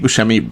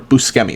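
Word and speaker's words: Buscemi: I think Steve Bushi really killed the role or Busi. That's actually how it's pronounced.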